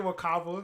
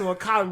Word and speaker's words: Wakanda: But, don't go here saying Wakaba. It's Wakanda. Well, I was going to say Eddie Murphy is doing the kind of general all Africa Wakanda voice that everyone in